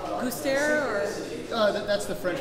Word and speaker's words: Gustaire: So you're playing with a band, I haven't heard of them before, but they're called Gustaire, or? That's the French pronunciation.